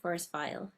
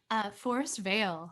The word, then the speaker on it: Forest Veil: Is it Forest Veil or Forest Vile? How do you say it? Forest Veil. Veil. Okay. Yeah, I wasn't sure.